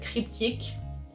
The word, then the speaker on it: cryptique: Like, if you spell cryptic in French, it's I-Q-U-E at the end instead of I-C, and you pronounce it cryptique.